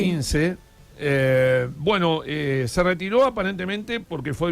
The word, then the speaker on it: İnce: Hay un candidato que se retiró a último momento, Muharrem İnce, no sé si lo pronuncié bien. İnce, sí. İnce.